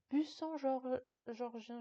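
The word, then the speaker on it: Buxangeorgien: buant georgien Georgienne et ça se prononce bussant georgien Georgienne je sais pas pourquoi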